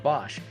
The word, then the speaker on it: Bosch: previously held executive positions with michelin ricardo and bosch or bosch depending on how you like to pronounce that and john has also been involved